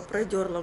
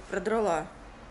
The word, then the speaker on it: продрала: Я только продерла глаза. Я знаю, что правильно говорить продрала.